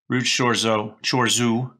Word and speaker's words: Chorzów: Ruch Chorzów. I know the O there with the thing is pronounced like a U for me.